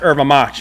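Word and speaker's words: erva-mate: It's pronounced erva mate in Brazilian Portuguese, but you could also say erva mate if you want.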